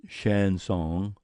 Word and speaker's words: chanson: flower defeasants making Knicks chanson pronounced Shan song French kind of song remark men worthwhile